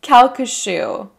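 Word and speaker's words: Calcasieu: you've already broken it down so i can pronounce it thank you kalka shoe that the map in the kalka shoe parish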